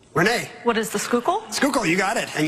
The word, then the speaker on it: Schuylkill: What is the Schuylkill?